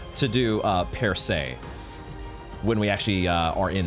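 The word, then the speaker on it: Percée: According to ChatGPT, it's per se, and it actually means a breakthrough, an opening, or an advance.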